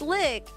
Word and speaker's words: lich: Wait, lick. Wait, has she always pronounced lich as lick? Yeah, it's lick.